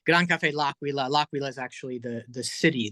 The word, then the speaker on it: Gran Caffe L'Aquila: But yeah, it's Gran Caffe L'Aquila.